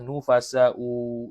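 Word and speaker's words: نفساء: dia marah itu ialah nufasau ialah perempuan yang nifas cara bacanya bidamin Nun a walika nufasau maqruun dibacakan akan dia Bam Nuni dengan didammahkan akan Nun NU bukan na bukan ni leasu atf pada dami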